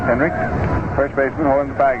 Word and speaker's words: Henrich: The Yankees ahead 3-2, and here is Tommy Henricks. The name is pronounced as though the final letter is a K, although it's spelled Henrich. Henricks was really pounding that ball last year for the Yankees.